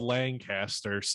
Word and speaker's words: Lancaster: columbus that is called lancaster and it's spelled the same way so i would know no other we pronounce it properly because we have the harshest a's up here in northeast ohio we just hold on